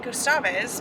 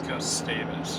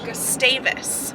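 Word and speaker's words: Gustavus: taking a fery to we keep calling it gustavis but it's they told us last night it's pronounced gustavis gustavis then we'll be there for 5 days because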